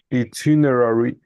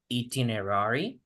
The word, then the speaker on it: itinerary: Itinerary. Hay dos, puedes decir itinerary, exactly, o itinerary. En este caso, las dos pronunciaciones son correctas.